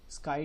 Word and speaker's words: ASCII: स्काई table, ASCII table, इस तरीके से इसको प्रोनाउंसिएट करता है।